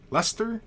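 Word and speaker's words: Leicester: family member less no fan yo Chris rooster Lester dark mission says Lester Joe Lewis says Lester then Chris God Lester it's pronounced okay and Ruth Cooke says it crowns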